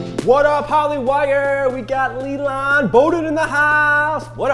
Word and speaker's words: Lilan: Like, L-E-E, lawn, L-A-W-N, lawn. Like, yeah, like, that works for people, like, right?